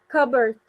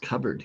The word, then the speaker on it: cupboard: Cupboard. Right. With a silent P. And we also don't even say the O A. So, just cupboard.